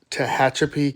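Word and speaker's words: Tehachapi: he says in uh Tahachapi, California. Sorry if I said that wrong. The correct pronunciation of that town is Tahhatchipi, California.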